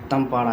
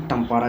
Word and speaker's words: तंपारा: उसके बाद छठा है तंपारा झील। या इसको कहीं-कहीं इंग्लिश में प्रोनाउंसिएशन टंपारा झील भी होता है।